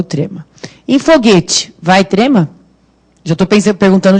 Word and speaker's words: foguete: Em foguete, vai trema? Já estou perguntando direto já. Foguete tem trema? Não, porque esse U não tem som, não é foguete, né?